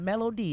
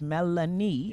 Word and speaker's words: Melanie: So it's Melanie. It's not Melody. It's Melanie. Yeah.